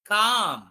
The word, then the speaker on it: calm: How do you pronounce this? Lamp. ఇక్కడ చూడండి, దీన్ని ఎలా ప్రొనౌన్స్ చేయాలి? Yes, it is calm.